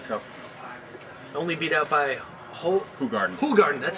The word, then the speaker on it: Hoegaarden: Only beat out by Hoegaarden, that's how you pronounce it.